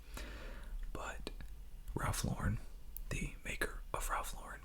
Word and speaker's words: Ralph Lauren: solve any debate here it is Ralph Lauren it is not Ralph luren I used to say Ralph Lauren because that's the correct way to say it in French pronunciation but Ralph Lauren the maker of Ralph